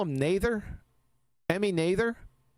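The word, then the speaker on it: Noether: Didn't they call him Nather? Emmy Nather? How do you pronounce her name? Who cares? Time symmetry. Nother.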